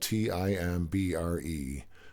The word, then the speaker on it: timbre: It's spelled Timbre, but it's pronounced timbre, and it's the unique